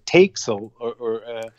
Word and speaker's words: Tex: I would think Tex. Not takes or text.